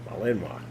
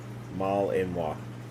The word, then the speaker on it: Malinois: Malinois. It's French. Apparently I said it wrong. Huh? I do that. You I said it. what wrong? I said it wrong. Malinois. Malinois. Yep. That's what it is.